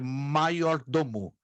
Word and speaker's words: major domo: mas ela tem e a letra J no latim tem a pronúncia de I Então o correto é maior do mundo maior dono do latim